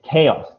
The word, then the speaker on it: chaos: uh yeah i i don't know how to pronounce it uh it is c-h-a-o-s okay okay okay right so a couple of things so the word is chaos chaos chaos chaos okay chaos chaos right and